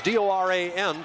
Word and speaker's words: Doran: It's D-O-R-A-N, but it's Doran, the pronunciation.